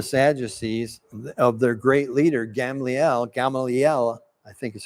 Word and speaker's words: Gamaliel: In saying this, they're sort of reminding themselves and the Sadducees of their great leader, Gamaliel, I think is how it's pronounced, Gamaliel.